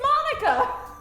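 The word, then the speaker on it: Monika: At least she's I'm sure it's little pronounced differently, but I like Monica. It's Monica!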